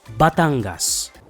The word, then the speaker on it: Batangas: you at a convention in 2015 but it's pronounced batangas isn't it your day off tomorrow come with